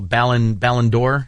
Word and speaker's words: Ballon d'Or: Hey, also, Tyler, help me with, I know I'm not going to pronounce it right. It's going to sound horrible. Ballon d'Or?